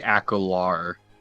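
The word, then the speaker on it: Acolarh: I say Akalar. Akalar. Okay, so the H would be Because silent. I think the H is silent. Yeah, because it just with English and usual, it's like R is next to an H, or when an H ends a word, it's usually silent or just like a slight.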